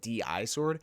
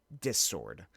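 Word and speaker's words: Di-Sword: I've been calling it D-I sword. It's actually pronounced dis sword, which is going to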